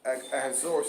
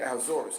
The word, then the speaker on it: Ahasuerus: And of course, Ahasuerus in his line. That's how you pronounce the name, King Ahasuerus, or Xerxes. It's King Ahasuerus or Xerxes.